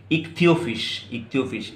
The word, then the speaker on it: Ichthyophis: Accept क्या है, salamander and इक्थियोफिश, इसका प्रोनाउंसिएशन ठीक रखना और इसका स्पेलिंग भी देख लेना बच्चों, ICHTHYOPHIS। Salamander and इक्थियोफिश is fertilisation is